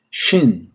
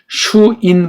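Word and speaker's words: שין: 이걸 슈인 발음하면 안 돼. 이건 우리나라 모든 모음들은 단음이라고 하는 걸 상식으로 알아두세요. 이거 말하는 사람이 거의 없어요. 모든 모음들은 단음이다. 우리나라 21글자 모음이 있는데, 그래서 이거 쉰, 이렇게 표기해야 정확해요.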